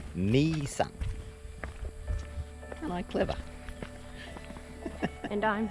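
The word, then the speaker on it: Mỹ Sơn: Making our way back from the temples or the monuments of Misan. It looks like my son, but they pronounce it me son.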